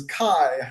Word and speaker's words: Kei: The conflict card, it's spelled Kei, and so I pronounce it K, which is kind of like the Japanese pronunciation. But Joey was saying the official pronunciation is Kai, I think.